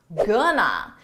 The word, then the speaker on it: gonna: Gonna. Now this is a reduction. We take two words, going to, and we reduce it into one, gonna.